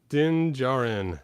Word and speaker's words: Din Djarin: Din Djarin.